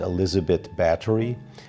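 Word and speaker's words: Elizabeth Báthory: Her name is Elizabeth Bathory, pronounced Elizabeth Bathory.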